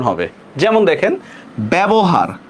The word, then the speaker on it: ব্যবহার: কোনো ই আছে বলেন, জ ফলার পরে কোন কোনো ই আছে, নাই। এই জন্য দেখেন আমরা উচ্চারণটা কিভাবে করব, বে বো হাকার হা র হসন্ত, ব্যবহার। দেখছেন তো, এই যে আমরা এ উচ্চারণ করতেছি কিনা, এ।